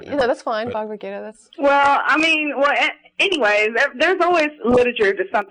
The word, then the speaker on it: Bhagavad Gita: Bhagavad Gita.